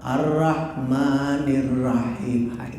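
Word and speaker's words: الرحمن الرحيم: Ar-Rahmanir-Rahim, gitu roh ya. Ar-Rahmanir-Rahim, jangan ra, Ar-Rahmanir-Rahim.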